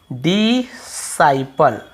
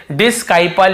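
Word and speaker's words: disciple: अब यहां पर आप देखेंगे यहां पर भी आपको सी का उच्चारण नहीं डिसाइपल क्योंकि आई को हम आई ही पढ़ रहे हैं। डिसाइपल ऐसे पढ़ रहे हैं। ठीक है? यहां पे भी हम इसे डिस्काइपल या डिसाइपल ऐसे ही पढ़ केवल डिसाइपल पढ़ रहे हैं।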